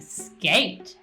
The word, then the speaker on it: skate: I think skate has a long A sound, where the magic E makes the A in skate say its name.